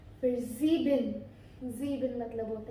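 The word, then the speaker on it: sieben: तो ज़ीबिन 7, हम ज़ेवन तो बोलते नहीं है ना इंग्लिश में, हम बोलेंगे, लेकिन जर्मन में हमारा होता है ज़ीबिन।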